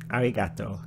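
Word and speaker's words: ありがとう: sound at all neat it's like a mixture between an R and an L sound me there's no such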